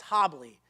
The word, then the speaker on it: Hable: The last name pronunciation makes no sense. It's Hable. The best mnemonic tool as I have, it's probably Hable, if you're wondering how to pronounce it, probably Hable.